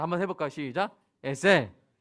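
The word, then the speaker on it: עזר: 그러니까 돕는 자인데 히브리어 발음은 에셀입니다. 약간 유성음이 들어간 에셀이에요. 자, 한번 해볼까요? 시작. 에셀.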